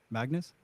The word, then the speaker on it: Magnus: Magnus.